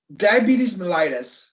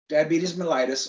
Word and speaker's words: diabetes mellitus: that's like most of us in this room diabetes mellitus that's how it's pronounced diabetes mellitus or or abbreviated dm we just shorten it